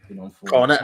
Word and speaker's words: Cornet: Cornet, like the ice cream, yeah.